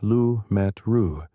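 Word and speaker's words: Lemaître: In 1927, a Belgian priest and physicist named George Lamett, pronounced George Lu Metru, published a remarkable paper.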